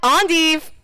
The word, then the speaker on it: endive: know what this is you pronounce it any way you want but yes this is endive ondive those of us in Oki land call it Endive those of us in